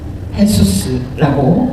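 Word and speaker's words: Jesús: 예수님은 똑같습니다. 헤수스라고 발음합니다.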